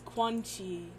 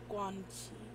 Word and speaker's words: Quan Chi: Although I keep trying not to say it like Squanchy from like, what's that? Rick and Morty? It's Quan Chi, not Squanchy.